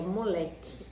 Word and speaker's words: moleque: Essa aqui, ó, moleque. Essa é uma boa palavra para a gente treinar aquela estratégia, ó. Moleque! Olha como o Lé ficou comprido, tá vendo? Então, o Lé é a sílaba tônica.